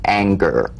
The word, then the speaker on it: anger: For instance, this is the difference between the soft G in singer and the hard G in anger. Right? Mhm. For instance, a singer sings, but an anger doesn't an, right? So, the at the end of that word is meaningless in terms of the whole word. That has a hard g.